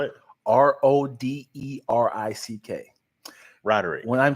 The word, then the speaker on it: Roderick: my mom I asked my mom is it rogerick or Roderick because I've heard two people pronounce it that way I know two Rodricks